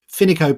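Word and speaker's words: Fineco: they are essentially a bank finico by the way is spelled f-i-n-e-c-o bank or one word finico bank and these are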